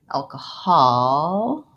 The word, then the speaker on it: alcoholic: Hall has the ah sound. So I'm going to write it with an AH to help you. Alcoholic. And then lastly, I have another syllable like lick, alcoholic. And that's a vowel unstressed and short, alcoholic.